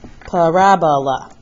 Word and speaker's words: parabola: parabola is not Ebola it's a lab no parabola that's how you say it but that's an